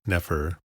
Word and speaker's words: nefer: In modern transcriptions, an E is added between consonants to aid in their pronunciation. For example, NFR, nefer, or good, is typically written Nefer.